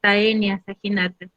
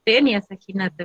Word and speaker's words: Taenia saginata: Yo no voy a pronunciar Taenia Saginata, yo pronuncio Tenia Saginata, ¿verdad?